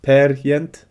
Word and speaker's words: Peer Gynt: It was written for Ibsen's play Peer Gynt, or to try and pronounce it correctly, Per Gynt.